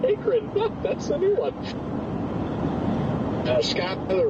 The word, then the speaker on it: Akron: that is the first time I've heard it pronounced Akron, I have to say. Yeah, somebody just corrected me here as well. Yeah. So apparently it's Akron, you know, whatever.